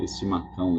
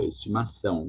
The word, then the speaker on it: estimação: Remember that the C is not cão, estimacão, estimacal, estimação, like an S or something.